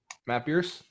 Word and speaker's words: Matt Beers: believe with matt beers matt am i pronouncing your name right i said that right matt beers you are yes you're saying that right very good because a